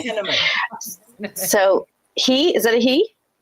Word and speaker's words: Penniman: Penniman? like cinnamon. Okay. Penniman.